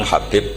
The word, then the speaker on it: Habib: yang nulis Abi Abdurrahman Habib asulami itu di harakatnya kitab itu ada yang nulis khubi Yang benar Oh gigih yang benar itu bacanya habib habib itu asulami itu ikut